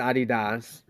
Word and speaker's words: adidas: shoes in europe and adidas is a german company and it's called adidas adidas when america is pronounced adidas yeah i inbox them